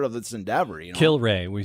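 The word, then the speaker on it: Kilrea: is like part of this endeavor you know kill Ray we said we're saying kill Ray okay kill Ria it's actually should be kill Ray and here's the thing Andrew just to respond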